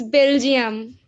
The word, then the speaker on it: Belgium: it is ananya it's belgium excellent yeah so what is the word we can say jump bell gem but obviously spelled differently not spelled like that this is how we